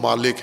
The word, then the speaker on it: مالک: فقہا جس کے جواز پر مطمئن ہے وہ مالک ہے، کہ مالک یوم الدین پڑھیں، ملک نہ